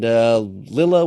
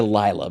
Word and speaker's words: Lylla: And Rocket was there, and Lilla was, I can't say Lila because it's spelled Lylla, and a double consonant usually makes for a short vowel sound.